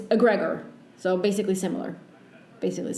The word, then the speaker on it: egregore: So in Spanish, it's egregor, but in English, it's egregor.